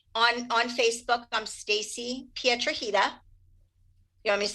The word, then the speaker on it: Piedrahita: on facebook i'm stacy pietrajita you want me to spell it uh sure put the link okay it's it it rhymes with margarita how appropriate anyway p